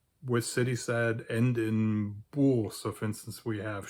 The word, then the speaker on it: bourg: The French equivalent of this word would be bourg, and it is spelled like this. It just has a O in it as well, O-U, which forms the sound OU in French.